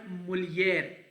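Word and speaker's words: mulher: ठीक है, मैन को ओमेम कहते हैं, एच जो है साइलेंट होता है, it pronounce as ओमेम। Women is called मुलियर, हियर एच इज वाई, सो मैन इज ओमेम, women is मुलियर, बॉय मिनिनो, गर्ल मिनीना।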